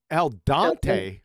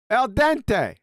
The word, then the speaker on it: al dente: your grits Neil I like it meltante El Al Dante who the hell is that is Al Dante's